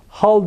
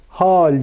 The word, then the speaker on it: hal: kase derken aynı şekilde hal derken hal demiyoruz bakınız hal diyoruz ince telaffuzlu bir hece hakikat derken